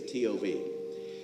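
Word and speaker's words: טוב: it is good now the hebrew word for good is tov we would say tov and tov is not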